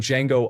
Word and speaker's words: Django: Back when Django Unchained came out and I did not know the movie existed, I saw a meme with Leonardo DiCaprio saying the D is silent.